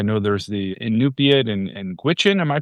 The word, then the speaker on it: Gwich'in: I know there's the Inupiat and Gwich'in. Am I pronouncing that correctly? Yeah, Gwich'in is an Athabascan, Indian group, basically more interior